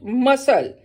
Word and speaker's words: muscle: Muscle. C is silent.